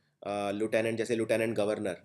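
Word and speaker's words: lieutenant: के अंदर होता है देखिए लुटने में एक चीज याद रखनी है यह एल आई ई यू है लू जैसे यह शब्द आया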